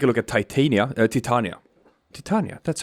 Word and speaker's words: Titania: we're gonna take a look at titania titania titania that's how you pronounce it um because you know when i